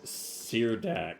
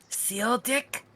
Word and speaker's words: Seardak: Seardak. Seardak. Okay, that's how you pronounce his name. Goddamn people with that weird spelling. What was your name, sir? I'm Seardak. Seal Dick?